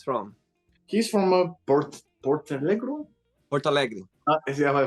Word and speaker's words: Porto Alegre: Porto Alegre. Yeah, I pronounced it right, yeah.